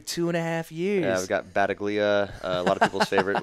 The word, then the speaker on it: Battaglia: Battaglia. Okay. Yeah, not a soft G.